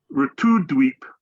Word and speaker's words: Navadwip: Navadwip. Did I pronounce that right, Marge?